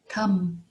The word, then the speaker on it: thumb: another word is thumb thumb t-h-u-m-b thumb it is the